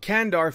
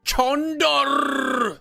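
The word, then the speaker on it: Çandar: Looks like the Ottomans attacked Kandar first, or as they say in Turkish, Chandar! That's exactly how they say it in Turkish, okay? Especially with the R at the end.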